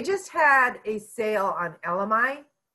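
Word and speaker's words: elemi: They just had a sale on LMI. And LMI, it's spelled E-L-E-M-I, I believe, LMI.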